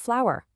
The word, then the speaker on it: flower: The correct way to say it actually has two syllables and sounds just like the word flower.